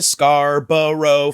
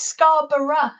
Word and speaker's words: Scarborough: Because in American English, we'll be like, "Are you going to Scarborough Fair?" But I've never heard a British person sing the song. It's Scarborough, so it's still 3 syllables, just slightly different syllables.